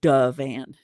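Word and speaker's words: divan: called a Dean it's spelled DV n but D van is how it's pronounced it's kind of cool it's like d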